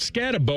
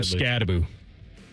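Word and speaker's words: Skattebo: Is it Scatabau or Scataboo? How How are they pronouncing it now? Boo. They're going Boo. All right. Uh Cam Scataboo after his little backflip haywire.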